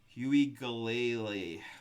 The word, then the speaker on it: Uiagalelei: Next, we've got DJ, oh boy, DJ Uiagalelei, oh boy, Uiagalelei, DJ Uiagalelei. I'm going to say it like ukulele, basically.